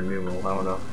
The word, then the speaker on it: Numel: Or Numel, I don't know how to say it, but it's Numel or Numel, because I hear people pronounce it both ways.